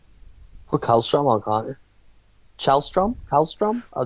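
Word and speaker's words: Källström: How do you pronounce Kallstrom though? Shellstrom. Shellstrom. Yeah, I think so. Like strum. Like the O as a U.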